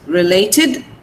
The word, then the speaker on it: related: So relate, related, TID. The pronunciation will become id. Yesterday I told you that. When we add ed to this clauses, it is pronounced id, related.